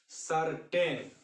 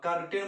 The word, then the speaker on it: certain: आप देखिए, CERTAIN, इसको हम लोग बोलते हैं सर्टेन। सी के बाद ई आया इसलिए सी से स, कर्टेन बोलिएगा तो आपका गलत हो जाएगा।